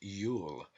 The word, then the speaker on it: Iul: One of these names for Jew is Iul, pronounced Yule.